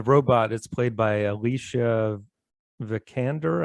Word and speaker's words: Vikander: is played by alicia vikander i think is how you say her last name and she's great man like or if you're prancing in germany would be vic under oh yes but uh german pronunciation again but yeah she uh